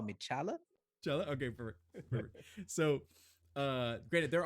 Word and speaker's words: T'Challa: this full name is chala the t is silent but you can you can call me chala okay so uh great